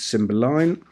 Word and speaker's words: Cymbeline: both inside and out Cymbeline by the way she's named after a Pink Floyd song released in 1969 slightly different spelling and pronunciation it's a Shakespearean character but it's a symbol line and she's in very